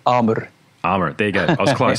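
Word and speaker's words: Àmr: Is it Amar or Amir? Yeah, Amar.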